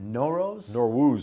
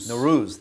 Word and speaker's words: Nowruz: Prime Minister Netanyahu once again reaching out directly to the Iranian people, wishing them a happy, it's pronounced Nowruz? Nowruz, the Persian New Year.